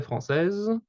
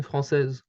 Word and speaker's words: française: Basically, the E is silent in française. You can't hear the E. You can't hear the E in française. The last sound of française is Z.